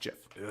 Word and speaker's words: GIF: And then younger generations started calling it Jif, like the peanut butter, and it's ridiculous. But apparently, the creator of Jif, or of a GIF, said it's pronounced Jif.